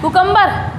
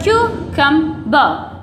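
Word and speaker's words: cucumber: वैसे ही इसको क्या बोला जाता है, कुकम्बर, यही तो बोलते हैं कुकम्बर, खीरा, लेकिन ये कुकम्बर नहीं होता, इसको बोला जाता है क्यूकम्बर, क्यूकम्बर, क्यूकम्बर, क्या बोलते हैं इसको, क्यूकम्बर।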